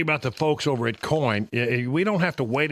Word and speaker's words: COIGN: The G is silent when you say it, but it's in there.